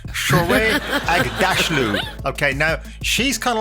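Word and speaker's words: Shohreh Aghdashloo: I've got to highlight some people like Shorey Agda. I always get her name wrong. Shorey Agdalashu. Oh my gosh. I rehearsed this earlier on and it was right. Shorey Agdashlu.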